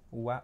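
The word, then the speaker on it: は: चाहिँ वा भनेर भनिन्छ हामीले हिरागाना पढ्ने बेला चाहिँ यसलाई हा पढ्या थियौ हा है तर पार्टिकलमा के हुन्छ यसको वा उच्चारण हुन्छ।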